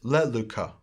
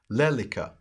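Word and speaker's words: λέλυκα: The perfect active indicative, first person singular, is le luka. Second, le lukas, le luken, le lukamen, le lukate, le lukasin. Using a modern pronunciation, lelika, lelikas, leliken, lelikamen, lelikate, lelikasin.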